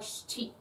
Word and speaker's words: shichi: It is spelled, the transliteration of it to Latin letters is shichi, but you don't really pronounce the I. It's more like shichi. So the sh doesn't really have a vowel to it.